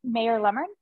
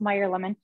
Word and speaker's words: Meyer lemon: using our French Pantry the um mayor lemon now I actually have never seen um I think it's pronounced Meyer lemon I've never seen them